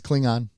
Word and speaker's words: Klingon: It's Klingon. It's like the G in longevity.